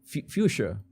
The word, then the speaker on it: fuchsia: pink magenta uh I never remember how to pronounce fxia I said fxia because that's how uh that's how we say in fuchsia fuchsia fuchsia oh that's how you say in